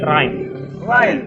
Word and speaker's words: Rein: Tapi intinya kalau misalnya gimana ya, sebenarnya kalau dibilang bacanya bukan Rain ya, tapi Rain. Rain. Karena itu diambil, kalau saya sendiri ambil potongan kata itu dari bahasa Jerman ya, artinya pure.